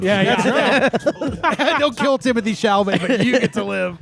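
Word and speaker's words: Timothée Chalamet: Don't kill Timothy Chalamet, but you get to live.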